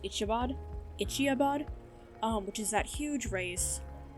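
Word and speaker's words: Iditarod: She wants to train for the, I believe it is pronounced Ichiabod, which is that huge race that, takes place in Alaska every year.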